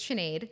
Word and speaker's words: Sinead: I used to hate the first day of school because no one could say it right, but it's Sinead.